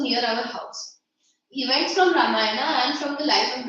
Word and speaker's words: Ramayana: Events from Ramayana and from the life of the Prophet were the bedtime stories my mother and grandmother would tell the children in our family. Okay. It's Ramayana.